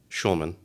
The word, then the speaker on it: Schulman: Shman. Schulman. Su L M. Yeah. Okay. No C.